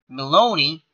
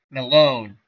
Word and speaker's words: Maloney: And the new pitcher for the Brewers will be Tommy Maloney. As Craig Counsell makes another pitching change. Malone. Well, there's lots of different ways you can pronounce this. I'm going to say Malone. Tommy Malone.